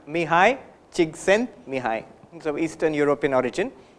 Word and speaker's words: Csikszentmihalyi: If you learn how to spell the name and pronounce it, I'll tell you. It is Mihai Csikszentmihalyi. Mihai Csikszentmihalyi.